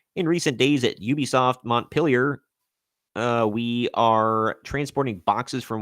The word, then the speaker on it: Montpellier: way, whose host detailed that at the Ubisoft Montpellier, blah. I can't pronounce anything super not basic today.